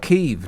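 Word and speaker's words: Kyiv: we're gonna get anywhere if people are calling it keeve now in recognition of how the ukrainians pronounce their own capital city's name if you say kiev i mean that just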